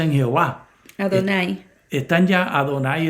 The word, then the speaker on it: Adonai: Están ya, Adonai es la palabra que se pronuncia.